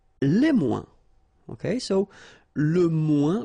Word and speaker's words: moins: Okay, so le moins, remember when we combine this O-I-N together, we get the sound ouin, ouin, ouin, okay, and we don't pronounce this final S.